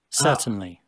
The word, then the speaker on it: certain: Vocês estão vendo que ele não pronuncia o R, né? Que é a pronúncia britânica, tá?